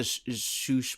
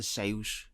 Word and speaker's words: Seuss: People say Dr. Seuss, but it's Dr. Seuss, the actual pronunciation.